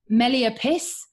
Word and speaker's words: Meliapis: So she said it's pronounced Meliapis, and she said literally as in taking the piss.